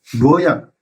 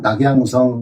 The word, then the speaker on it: 낙양: 양시와 유작이 루어양, 중국 발음으로 루어양이지만 우리는 낙양이라고 합시다. 낙양성 심리하 할 때 낙양.